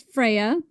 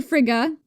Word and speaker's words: Freya: So, one night the god Balder, son of the goddess Freya or Fria, there's many ways to pronounce this, had a bad dream that he was going to die.